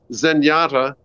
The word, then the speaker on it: Zenyatta: that's the Zen part zenyata uh rhymes with Kenyata uh who is a